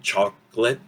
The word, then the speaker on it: chocolate: And then we have that O reducing or disappearing, chocolate, okay? And that A sound becomes this reduction right here, expressed in that little apostrophe. Chocolate, very quick.